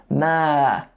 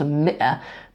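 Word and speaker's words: مئة: The word is pronounced mi'a, but it's just, I think it's even written with a kasra under there. Like the alif is just an unwelcome little alif in there.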